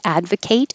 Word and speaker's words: advocate: or an adjective and if it's a t e as a verb i would advocate for your rights then the ate sounds like eight past tense i ate